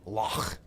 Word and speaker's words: Loch: because we went to, I'm not saying it right. I told in Scotland, you got to say Loch. So we went to Loch Lomond, which I thought was awesome.